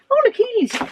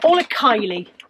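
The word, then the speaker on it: Orla Kiely: Anytime, whenever I buy all Kylie stuff, I always mispronounce it, and one of you always says in the comments, you're pronouncing it wrong, and I do always forget, so I've remembered it, all Kylie, but she's in my head as all Achille.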